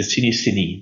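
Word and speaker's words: Cinéscénie: They have a show that is already running for 48 years, which is the Cinesceni. That's how we pronounce it, Ellen.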